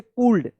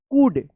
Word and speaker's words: could: कूल्ड, आप पढ़ते होंगे कूल्ड, लेकिन इस तरह से नहीं होगा, इसका सही उच्चारण होगा कूड, कूल्ड नहीं, कूड, कूड।